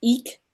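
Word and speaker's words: Ik': So the qualities of this card is pronounced Eek, E-E-K, are spirit, breath, wind, inspiration, truth, presence, integration of polarities, co-creator of reality, simplicity, unseen forces, integration, and focused intent.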